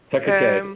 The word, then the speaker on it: Hecate: I know how to read it, but I don't know how to pronounce it, right? But mm-hmm. It's Hecate? Hecate, yeah.